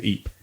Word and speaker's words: Ypres: We're going to Ypres. It's called Ypres. I don't know. It's spelled like Y-P-E or something like that.